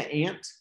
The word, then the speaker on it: aunt: Se pronuncia ant.